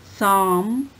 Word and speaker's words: psalm: Psalm, palm, po and lo are silent in psalm, and lo sound is silent in palm.